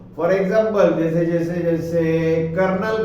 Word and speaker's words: colonel: इसका क्या है, कर्नल है, लेकिन उसमें आर ही नहीं आता है।